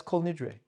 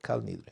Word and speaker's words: Kol Nidre: And that's Kol Nidre. Kal Nidre, we call it, the Sfaradim call Kal Nidre, which is the appropriate pronunciation.